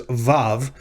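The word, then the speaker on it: ו: pronounce these two letters they pronounce the first like like the v in vine rather than a w in fact they refer to this character to this consonant as vav rather than wah and the other uh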